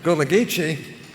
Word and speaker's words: Gullah Geechee: same day that Jim taught me how to pronounce the word in the words I better think this through Gullah Geechee I had the bill hotline and passed in